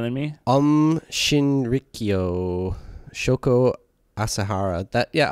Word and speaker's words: Asahara: by shoko as okay you want to try pronouncing any of these words better than me um shrio shoko asahara that yeah asahara that makes sense shoko asahara yeah he got